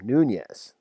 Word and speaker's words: Nunes: now meeting with him noon yes it's how you pronounce that um is totally freaky